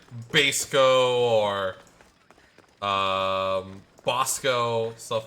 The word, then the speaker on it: Basco: like that i say i say bosco most of the time so that's how i pronounce my name but yeah bosco even though technically with how how the origin of the name originated it probably would be more like basco but you know bosco